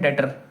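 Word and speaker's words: debtor: अगला टर्म है डेटर। डी ई बी टी यू आर। मैंने तुम्हें बता रखा है बी साइलेंट होता है।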